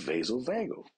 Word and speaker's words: vasovagal: oh okay I heard of that that's called vasovagal we say what I never heard of the